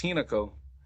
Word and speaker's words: Hinako: Why did I not pronounce it right? Hinako? It's Hinako.